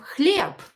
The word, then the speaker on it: хлеб: I have b here, and it is located at the end of the word, so I will pronounce it as p. Хлеб. Хлеб. I will not say хлеб. No, хлеб. Хлеб. Because voiced consonants at the end of the word will become unvoiced.